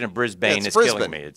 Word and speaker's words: Brisbane: Intern Sam says the pronunciation of Brisbane is Brisbane.